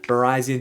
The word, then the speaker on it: Virizion: the pronunciation of verizon i like to say verizon because that's the way i heard it in these swords of justice movie in which verizon was